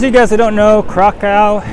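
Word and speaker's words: Kraków: guys who don't know krakow is pronounced krakov the w is a v and for all of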